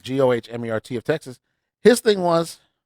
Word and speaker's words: Gohmert: Republicans, GOP members Ted Yoho of Florida, Louis Gohmert of Texas, Thomas Massie of Kentucky, which again, all southern states, states that have had race issues and other stuff like that.